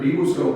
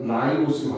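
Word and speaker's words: ribose: 근데 요 앞에 붙어 있는 게 요게 전교육과정까지는 리보스라고 배웠어요. 근데 이제 이름이 이 발음이 아이 발음 같아서 라이보스로 바뀌었어요.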